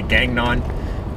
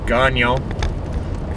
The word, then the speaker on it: Gagnon: Most guys say Gagnon. It's Gagnon, for those of you who aren't sure.